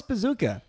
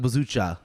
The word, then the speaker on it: Bezucha: Who was Thomas Bazooka, which I promise you that's what I looked up and that's what his name is pronounced. It's spelled Bezucha, but very much yes, Thomas Bazooka.